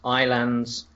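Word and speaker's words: Ylands: which which stands for your lands but it's pronounced iands um which seems to be one wonderfully all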